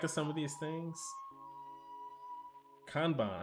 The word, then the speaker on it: kanban: Kanban. Oh, that's the Japanese pronunciation.